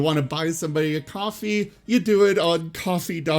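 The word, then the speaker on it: Ko-fi: patreon to coffee and he does not seem to understand that it is pronounced coffee you know the KO - a fly yeah he's like KO phi or coffee or whatever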